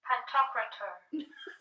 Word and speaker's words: Pantocrator: I know how you spell it, dude. That's not how you say it. Pantocrator. I was close. Pantocrator.